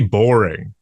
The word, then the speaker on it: Boreing: The guy's name is literally Jeremy Boring. That's his punk rock name. I don't know. It's spelled Boreing, but it's boring.